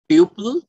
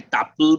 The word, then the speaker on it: tuple: একটা হচ্ছে list list বাংলায় লিস্টটি বলব তারপরে টিউপল টি ইউ পি ইউ এলই কেউ কেউকে টাপল বলে আমি বাংলাতে আমি টিউপল বলি যাতে বানানটা